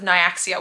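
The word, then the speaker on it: Nyaxia: like the series is called the crowns of naaia which I now know how to say cuz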